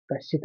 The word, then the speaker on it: कश्चित: को देखिए न कश्चित कश्चित एक साथ पढ़ लीजिए कश्चित पहले श पढ़ेंगे फिर च पढ़ेंगे जब दो शब्द वाले